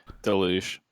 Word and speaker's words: deluge: Deluge.